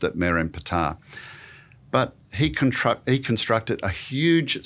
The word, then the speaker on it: Merneptah: But Ramses II's son is a pharaoh called Merenptah. Looks like Merneptah when you look at it, so don't correct me for a wrong pronunciation. The Egyptians would have pronounced it Merenptah.